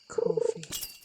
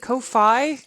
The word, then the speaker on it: Ko-fi: but because I'm like, is it Ko-fi? Is it? I think that's how a lot of people pronounces it, but not my French ass. Because I was always saying it Kofi because I assume it's a play on the word coffee.